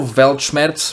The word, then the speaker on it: Weltschmerz: minutes of music also velchmetz finally pronounced it right he's from german means the pain of the world and interesting